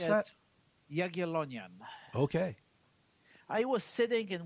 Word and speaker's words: Jagiellonian: I went to college in Poland, university, Jagiellonian University, and I was How do you sitting pronounce at that? Jagiellonian.